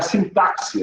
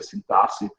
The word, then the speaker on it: sintaxe: Não é sintaxe, é sintaxe, a gente pronuncia.